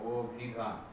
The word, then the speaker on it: অভিধান: এখানে অটা উচ্চারণ হয়ে যাচ্ছে ও এর মতো, অভিধান।